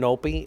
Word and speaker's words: NOPI: Well, the brand Nope is just like they're known. Spell it. NOPI, literally.